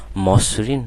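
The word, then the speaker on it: মসৃণ: কি হয়ে যাবে ও হয়ে যাবে তাহলে বলো মসরিন নাকি মসরিন মসরিন তাই না মসরিন তারপর দেখো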